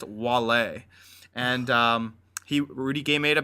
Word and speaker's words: Wale: I think it's spelt Wally, but it's pronounced Wale.